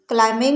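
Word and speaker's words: climbing: क्लाइंबिंग में जो बी है वो साइलेंट है, तो ये हमारा जो डी ऑप्शन है क्लाइंबिंग इज़ करेक्ट।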